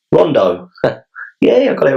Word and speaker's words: Rondo: My name is pronounced Rondo."